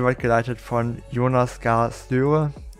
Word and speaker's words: Støre: Das ist die Arbeiterpartei, und die wird geleitet von Jonas Gahr Støre. Ist so ein durchgestrichenes O, ich glaube, das wird Ö ausgesprochen.